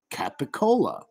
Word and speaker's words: capicola: Now try to pronounce Capicola. The C, which are really K, the K, Capicola, K, sounds become voiced, so they turn into a G because you're trying to make it flow.